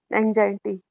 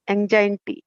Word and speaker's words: anxiety: cajun anxiety forex and anxiety there is no cause for exam enjoying t enjoying t that's not the way you pronounce it the pronunciation is anxiety there is no cause